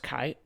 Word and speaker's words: chai: 18, now in Gematria, 18 is associated with the word Kai, which is spelled like chai, C-H-A-I, but I believe it should be pronounced Kai.